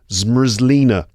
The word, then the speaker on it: zmrzlina: It's zmrzlina, which sounds like you're saying an English word backwards.